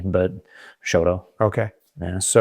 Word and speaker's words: Choteau: Yeah, we don't we don't really print we don't really pronounce the T very hard. We just say Choteau. Almost like it's a D, but Choteau.